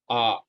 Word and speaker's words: a: actually letter A but when we use this letter a as an article then it should be pronounced like ah not a okay so a when